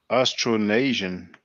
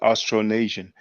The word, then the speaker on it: Austronesian: Austronesian.